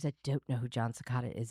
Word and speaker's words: Secada: John Cicada saying, "Oh, holy night."